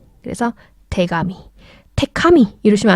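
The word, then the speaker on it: 手紙: 테카미. 태카미. 발음이 쉽지가 않죠. 그래서 합쳐질 때는 태가미. 그래서 태가미.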